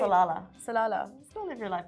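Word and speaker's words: Salalah: live your life in salala exactly why am I saying it salala I think you said it right salala salala don't live your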